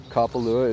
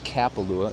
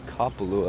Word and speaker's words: Kapalua: best effort and uh kapalua is said like that kapalu it's not kappalu it's kapalua of course a lot